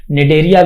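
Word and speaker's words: Cnidaria: फाइलेरिया भी बोलते हैं यह सी जो है साइलेंट है यह वाला साइलेंट है इसको हम नीड एरिया भी बोलते हैं साइलेंट रहता यहां पर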